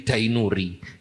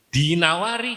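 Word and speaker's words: Ad-Dinawari: Dulu ada ulama dari Arab niku addinawari eh tiang Kediri mausik addinuri jadi dainuri. Dinawari jadi apa? Dainuri. Padahal asale niku dinawari.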